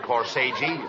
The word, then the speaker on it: corsage: No, not corsage. Corsage. That's corsage. Spelled A-G-E is pronounced like odge, as in corsage or garage.